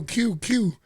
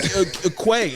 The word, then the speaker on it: Que: Yo, it sounds like Quay, DJ Quay, Quest, or Spanish people say DJ KK.